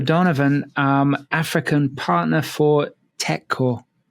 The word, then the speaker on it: Tekkorp: um African partner for Tech cor Tech cor is spelled t e k k o r p so you probably know the name but you didn't know how to say it cuz that's certainly how